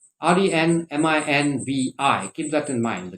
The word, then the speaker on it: renminbi: foreign exchange in china that is called renmenbi renminbi r-e-n-m-i-n-b-i keep that in mind the chinese currency is